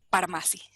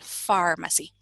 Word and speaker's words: pharmacy: en español, pues leeríamos pharmacy. Pero como no, lo escuchamos y decimos, no es pharmacy, ya entendemos que esa PH la vamos a pronunciar como el sonido de la F en español, pharmacy.